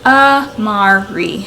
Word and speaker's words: Amari: Its meaning is strength, and it's pronounced Amari. So again, it looks like it would be said how it's spelled.